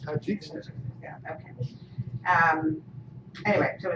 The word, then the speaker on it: Tajikistan: can say this right, from the Republic of Tajikistan or something. Sometimes the old Lucy episode. She made up all these names. How do you say it? Kyrgyzstan. With a T? Tajikistan. Tajikistan.